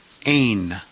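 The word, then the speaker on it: ἦν: So we would pronounce this word ein. Ein.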